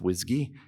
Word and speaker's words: WSGI: web server Gateway interface usually pronounced whsy the the way this works is that when the web server gets a request it passes it over to a whiskey server like gunicorn or